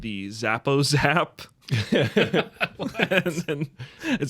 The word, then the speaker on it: Zappo Zap: Zappo Zap. It's spelled how it sounds.